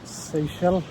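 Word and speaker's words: Seixal: So we are done with visiting the natural pools at seell. That's how you pronounce it by the way.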